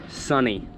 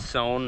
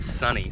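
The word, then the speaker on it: Sonne: Esso nne it's pronounced sunny not sewn or sawn it's pronounced sunny like it's sunny outside so now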